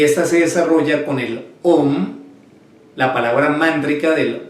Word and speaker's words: Om: Y se pronuncia de la siguiente manera. O sea, la O y la M. M de mamá.